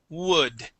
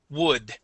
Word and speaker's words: wood: difficult one uh yes we start off with an o sound but then we go to an uh wood wood try that w w